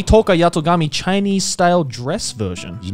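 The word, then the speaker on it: Tohka Yatogami: And finally, we have the Date Alive 3 Toka Yatogami Chinese style dress version. You nailed that pronunciation, yeah.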